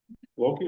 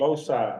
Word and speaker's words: Loci: We have, Loki Architecture, is that correct? Loci, Loci? yeah. I want to pronounce it Loki.